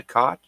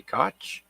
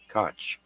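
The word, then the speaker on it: Koch: spacewalk by NASA astronauts Christina cot sorry cootch k c h cootch and Jessica Mir outside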